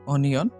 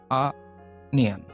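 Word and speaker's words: onion: ১০ নম্বর এটার আমরা উচ্চারণ করি অনিয়ন, তবে এটার উচ্চারণ হবে আনিয়ন, আনিয়ন, আনিয়ন, আনিয়ন, আনিয়ন।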